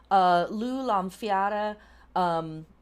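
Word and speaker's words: Lugh Lámhfhada: Lugh Lamfiara is one way of pronouncing his name.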